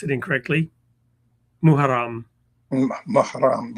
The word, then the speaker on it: Muharram: world were entering the first days of, I'll pronounce it incorrectly, Muharram, Mahram, right. Muharram, and approaching Ashura.